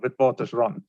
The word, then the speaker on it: Witwatersrand: University of Witwatersrand. Yeah, it's pronounced exactly how it's spelled.